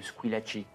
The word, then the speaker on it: Squillaci: Au nom de Squillaci. Squee? Lachi. Squillaci. Avec un chi, comme ça se prononce.